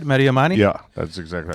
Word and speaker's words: Mehdi Amani: Is that how you say it? Mehdi Amani?